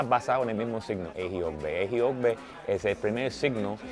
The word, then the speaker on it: Ejiogbe: El primer disco se llama Ejiogbe, pero se escribe como en el signo de Ifa, que parece como que 1, 1, 1, 1, signo de suma, 1, 1, 1, 1.